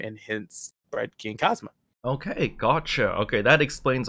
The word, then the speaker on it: Xing Kazama: explains a lot but even though your name is spelt like that it's still pronounced king cosmo correct yes i do have a lot of people who call me uh everything under the tuscan sun but it is pronounced so you said earlier